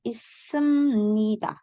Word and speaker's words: 있습니다: 있습니다 yang benar bacanya 있습니다.